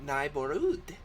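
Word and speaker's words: Nigh'Borüd: Okay, so it's spelled Nigh, N-I-G-H, apostrophe, capital B-O-R, space, a U umlaut with a D. So, Neighborhood.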